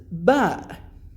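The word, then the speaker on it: ب: by its own is the second one is ba which is sound as simply equivalent to the letter b and then we have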